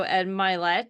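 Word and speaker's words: Ed Mylett: um there's a bunch of training there's also Ed milet is how you say his name um is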